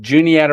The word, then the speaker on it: Juniata: Juniata River, it's not, a lot of people mispronounce it, but it's just Juniata River.